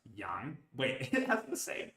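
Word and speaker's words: 羊: The right side of the character above is a character which means sheep and is pronounced yang.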